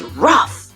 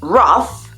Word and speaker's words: rough: But anyway, that was a good example to show you that tough, enough, and rough, which means not easy or smooth, are all pronounced like uff.